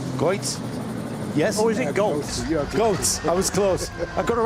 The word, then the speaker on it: Goltz: Goitz. Goitz. I said it right, didn't I, Sebastian? That's Goitz. Yes? Or is it Goltz?